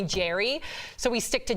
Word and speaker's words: Gerard: to cut the BS because most Americans all Americans we all call him Gerard yeah his name is Jarrod now there's an AR but I guess in Scotland you don't pronounce said R so it's like my name's Jerry so sick of Americans calling him Gerard so he's always asked me even on the carpet call me Jerry so we stick to